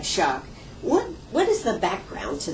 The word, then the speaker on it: Schoch: It looks kind of like Scooch, but you pronounce it like Schoch.